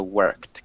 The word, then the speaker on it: worked: english okay nice um when we say worked it doesn't have an ed sound it has like more of a t sound at the end so worked can you repeat that